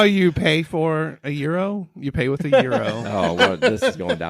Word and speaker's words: gyro: right that gyro gyro so it's Euro like the money okay no whatever well